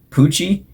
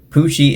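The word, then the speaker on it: Pucci: spoiled but the main villain of that show poochie and yes it is spelled with two c's it is actually because it's what anyways pushy is deal subordinate and he's basically trying to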